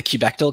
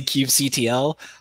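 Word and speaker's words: kubectl: so it's like we've got i'm in the cubectel camp some people say yeah some people say cube ctl uh i've also had cube cuddle so yeah i had someone talking with their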